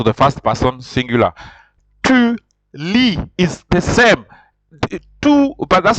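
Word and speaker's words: lit: going to still be Lee but there's a t instead of an S but you see you don't pronounce the T so it is he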